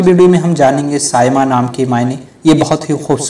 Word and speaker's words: Saima: کی ویڈیو کو شروع کرتے ہیں۔ نام ہے سائمہ۔ سائمہ نام کی انگلش اسپیلنگ ہوتی ہے SAIMA۔ سائمہ نام کا جنس